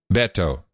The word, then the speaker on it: Beto: to pronounce it now it's Beto Beto yeah it's like saying Roberto you just dropped a row and the or Beto